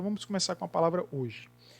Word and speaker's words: hoje: Hoje é constituído de 4 letras. Mas é constituído de 4 fonemas? Não. Quando a gente pronuncia a palavra hoje, o H ele fica mudo, ele não é pronunciado.